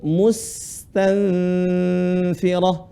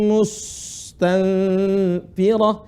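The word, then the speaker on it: مستنفرة: Perhatikan cara baca bukan mustanfirah, bukan seperti huruf shad. Ka'annahum humurum mustanfirah, itu salah. Yang benar lihat saya.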